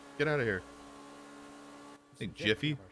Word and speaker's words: GIF: yes yes yeah yes pronounce it with a G like how it should be a gift without the T not a jaffal [